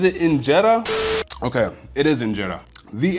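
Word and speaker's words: injera: So, the I got to Google this to make sure I don't say the name wrong. Is it Inetta? Okay, it is Inetta. the enetta.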